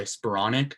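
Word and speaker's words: Skowronek: of mistakes that that dropped a touchdown by spuronic and that's how you say it wide open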